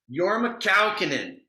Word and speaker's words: Jorma Kaukonen: So you, I want to make sure I'm pronouncing this correctly. Is it Jorm and the Fur Peace Ranch? Jorma Kaukonen.